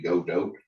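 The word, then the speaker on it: Godot: engine or so here pronounced lots of different ways I usually say gdo go dot it was made by argentinians so originally so it should probably be the uh the Spanish pronunciation which I guess would be go dope but nobody really says it that way because it doesn't flow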